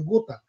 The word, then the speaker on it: Gotha: Chama-se Gotha, ou Gotha, como se fala em português, mas em alemão é Gotha, né?